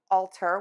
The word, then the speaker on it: altar: We have two words today that are pronounced exactly the same, but they have different meanings and different spellings. And the words are altar, which is a noun